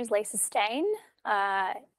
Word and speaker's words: Steyn: my name is Lisa stain uh it's a little bit my name is spelled not the way it's pronounced but that isn't aside